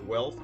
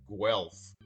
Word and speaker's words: Guelph: All right, Firebirds friends, as prefaced, my guest on this episode, 23-year-old native of Guelph, Ontario, now in his 3rd season with the Firebirds, crushing it, totally crushing it, as mentioned earlier in the show.